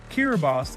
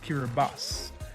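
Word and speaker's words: Kiribati: kiribos is an island nation in Oceania the country is actually pronounced kiribas as the locals pronounce the T as an s North Korea yes technically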